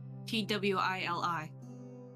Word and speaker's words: Twili: Twili. Gotcha. Yeah. Like Twilly.